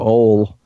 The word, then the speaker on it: Ole: words for a name because it's spelled Oh le and his last name is bull so it's the Norwegian name ole ole a bull so